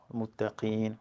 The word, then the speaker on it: متقين: The hu, the ha, muttaqin, right? And when you stop in muttaqin, is a noon, is not a meme, right? Muttaqin.